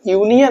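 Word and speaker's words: union: जैसे मैंने एग्जांपल लिए हैं यूनियन, अब देखिएगा इसका फर्स्ट लेटर जो कि वोवेल है, लेकिन इसका हिंदी में उच्चारण करेंगे तो यूनियन आता है। अब यूनियन में आप देखिएगा जो या है आपका, ये क्या है आपका, कॉन्सोनेंट है, यानी कि व्यंजन है, हिंदी में अगर बात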